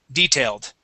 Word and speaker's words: detailed: same detailed inspection okay so detailed stressed at the beginning detailed okay detailed all right